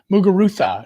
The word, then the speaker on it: Muguruza: I think she's been she's probably at least to one hardcourt final, you got to say the Z like Ibiza. Like it's a soft C. Muguruza.